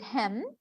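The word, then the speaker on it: hymn: religious poem because of the word hem as i told you the n is silent the poet caidman was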